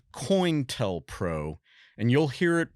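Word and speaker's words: COINTELPRO: conducted an activity called coint Pro and you'll hear it pronounced differently depending on who you're talking to I always heard it called coin like a coin tell proo it's an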